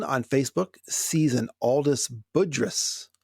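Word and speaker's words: Budrys: sees an aldis budrus am i pronouncing that name right that's how high allies have but i have heard people who seem like they should know say it differently but most people i've heard say budris yeah that's his name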